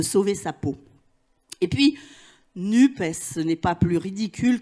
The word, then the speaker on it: NUPES: français, donc très basiquement, on le prononce comme ça s'écrit, NUP, et on ajoute, si on le souhaite, le S pour entériner la pluralité, ça fait NUPES.